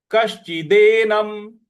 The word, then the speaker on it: कश्चिदेनम: तो ये हो गया आश्चर्य, आश्चर्यवत पश्यति, आश्चर्यवत पश्यति कश्चि, कश्चि, क के बाद जो श है उस पर हमको आघात देना है। कश्चिदेनम, दे, न और म पर हलंत है।